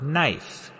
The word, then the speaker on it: knife: A good example of this change is in the word knife. In middle English, it was pronounced knife, but after the vowel shift, the K became silent and the e turned to the dip thong I.